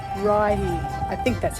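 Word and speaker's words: Righi: on the top of the funicular and it's pronounced as Reggie Hill I don't know about you but I love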